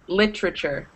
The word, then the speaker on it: literature: correct and litter literature you don't normally say literature and pronounce every single syllable when it comes out naturally it sounds like literature right literal literature that he kind of naturally